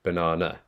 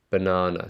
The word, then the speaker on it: banana: So uh, banana, banana. So there's that first bit here. The first NA needs to go up in intonation. So banana, banana, banana. And we've got two schwa sounds.